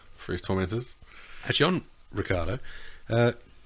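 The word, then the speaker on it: Ricciardo: last name is uh Ricardo that's how it is yeah that's how I always pronounced it I know it's not that way in Italian but I grew up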